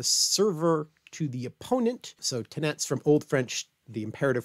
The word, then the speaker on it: tenetz: be in modern French, but in Norman you would have pronounced the tenets, hence tennis, which means hold, receive, take.